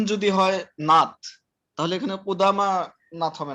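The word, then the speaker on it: قدامى: এটা এই ইয়াটা হলো এটা আলিফ মাকসুরা, এটা আলিফের মতো উচ্চারণ হয়।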